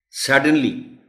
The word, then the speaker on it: suddenly: Suddenly, isme bhi sirf stress hai, khas baat, jo S par hai.